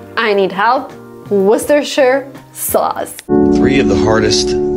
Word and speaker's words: Worcestershire: Worcestershire sauce. So funny. I can't even pronounce.